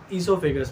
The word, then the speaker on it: esophagus: burger आगे चलते हैं esophagus पे ओ साइलेंट है आईएसओ फिगर्स नाम प्रोनाउंस